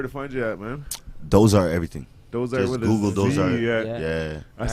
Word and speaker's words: Doughzart: I say Doughzart, and they go, "I bet you it's spelled with the Z." And I was like, Yeah, of course. yeah, Like it is Mozart.